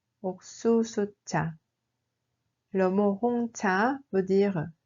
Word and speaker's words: 옥수수차: Il se prononce en réalité comme 옥수수차. 옥수수차.